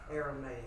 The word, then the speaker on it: Aramaic: Aramaic.